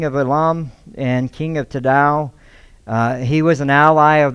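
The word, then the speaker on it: Tidal: And yes, it is Tadal, not like the hip-hop Tadal. Like I kept thinking, man, I can't get out of that. But that's how you say it, Tadal.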